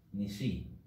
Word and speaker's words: νησί: Nisi. Oh, Nisi. So the tonus is at the. The purse. Yota. The last.